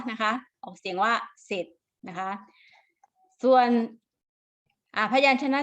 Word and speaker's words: เสร็จ: ศ ลา ส เสือ นะ คะ ถ้า ควบ กล้ำ นะ คะ จะ ควบ กับ ตัว รอ แต่ จะ ไม่ ออก เสียง ตัว รอ อย่าง เช่น คำ ว่า